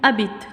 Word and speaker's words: habite: verbe il a changé le hcc ne se prononcent pas où habite tue ou gignac toulouse matin où ça veut